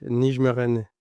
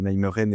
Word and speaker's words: Nijmegen: Le NEC Nijmegen, tu me corriges sur la prononciation par pitié. Ça devrait se Nijmegen.